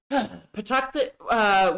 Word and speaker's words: Patuxet: fuck it up because I know how to pronounce it. Patuxet, which they lived in Massachusetts and Rhode Island area at the time. The Patuxet tribe were part of the Wampanoag Nation.